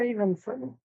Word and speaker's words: Evenson: Now, is it pronounced Evenson or Evenson? It is Evenson. It is Evenson. I've never seen it pronounced that way. Thank you. I'm glad you printed that. Thank you. It makes sense. It's even plus son, but I've always heard Evenson.